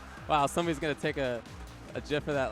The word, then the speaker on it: GIF: People think it's GIF, but the dude who created the GIF, What, you trying to tell him wrong? he says it's GIF.